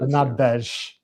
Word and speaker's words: Bernardes: So, uh, this is a drink invented by Leonardo Bernard Bern Bernardes. The accent's on the middle syllable. Bernardes. Bernardesh. Bernadesh because it's Spanish, I suppose.